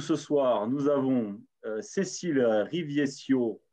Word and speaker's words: Rivieccio: Donc, parmi nous ce soir, nous avons Cécile Riviescio, ou on le prononce, si vous le voulez, à la Corse, Rivieccio, qui sera parmi nous, donc qui est responsable sponsoring Orange France.